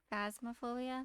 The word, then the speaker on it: Phasmophobia: so I know you play a lot of Phasmophobia. Is that how you pronounce Yeah, it?